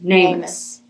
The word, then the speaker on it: NamUs: I think it's pronounced so, NAMUS. Yeah, like name us.